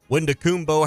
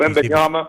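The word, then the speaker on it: Victor Wembanyama: Wendakumbo, how do you say his name, Ty? The dude who's taken number 1 last year. This guy for Kentucky. Wembanyama.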